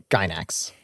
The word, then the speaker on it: Gainax: So the production company that made this is called, or is it pronounced Gainax? Gainax.